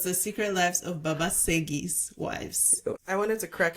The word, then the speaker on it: Segi: I thought that it was that SE would also be pronounced sh in this case, but apparently not. So I'm glad to be corrected.